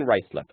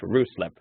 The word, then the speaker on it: Ruislip: Your support detachment in Ruislip, not locally pronounced Ruislip, is locally located in the borough of Hillington, Greater London, within the M25 highway.